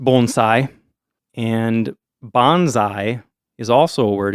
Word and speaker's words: bonsai: have to I'll forgive you if you say Bonsai yeah that's what I've been calling them my